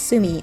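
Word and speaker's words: 炭: pronunciation for the character for charcoal which is pronounced sumi on its own and the word binchan referring to the affforementioned cooking charcoal.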